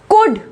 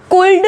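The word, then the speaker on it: could: Next देखो कुड, कुल्ड नहीं बोलेंगे, कुल्ड नहीं बोलेंगे, हम बोलेंगे कुड, वुड और शुड, ठीक है, ना कि वुल्ड, शुल्ड, कुल्ड, ठीक है।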